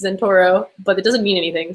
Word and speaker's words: Zentouro: everyone okay well as far as like username pronunciation it's in Toro but it doesn't mean anything so it's totally